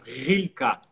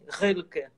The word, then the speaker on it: Rilke: Esse R rolado, vibrato, né? Assim, Rilke, né? Rilke.